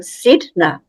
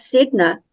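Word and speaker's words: Sedna: sidna symbol she realized sidna is spelled like Sedona with the O she now feels her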